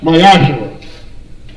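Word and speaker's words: מעשר: Means 10th in the Hebrew, and is pronounced Mayashara.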